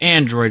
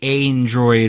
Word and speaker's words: aandroidd: thumb over everything and it's it's it is pronounced Android right not not like a Android or a a run or anything like that